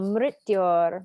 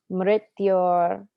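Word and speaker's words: मृत्योर्: You can imagine that there's a little I after the R, if that makes it easier for you to pronounce. Mrityor ma amritam gamaya. Mrityor ma amritam gamaya. Mrityor ma amritam gamaya. Om Shanti, Shanti, Shanti. Om Shanti, Shanti, Shanti. So you'll have it'll be a lot easier to pronounce once you're singing, believe it or not.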